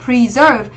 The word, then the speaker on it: preserve: Preserve. Nó là gì? À, động từ trọng âm theo quy tắc sẽ dương âm tiết thứ hai.